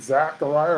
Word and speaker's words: Zechariah: old testament okay exactly you spell zechariah with the e it's not we we pronounce it zachariah or maybe that's just where they say it it's actually spelled with an e zechariah and they just say zechariah okay zechariah one and